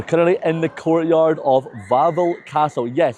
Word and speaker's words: Wawel Castle: So we're currently in the courtyard of Wawel Castle. Yes, I was pronouncing it Wawel the whole time, but I forgot that in Polish the W sounds like a V, so it's actually Wawel Castle.